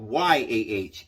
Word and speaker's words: Yah: and sometimes it's called y a h yah if you're not certain i a h is yah they spell it y a h a lot of the time and that that just means ya and that was one